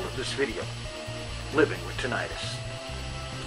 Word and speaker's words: tinnitus: Anyway, onward to the subject of the title of this video, Living with Tinnitus. Now, tinnitus, or tinnitus, as it is sometimes pronounced, is a fancy name for the thing that a lot of people just call ringing in the ears.